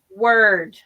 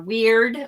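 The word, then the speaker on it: wyrd: is the concept of word or weird a lot of people pronounce it weird because it's easier for them to distinguish it i think yeah to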